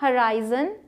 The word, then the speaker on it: horizon: तो वो था हराइजन। सिंपल आप देख सकते हैं कि स्पेलिंग ये है।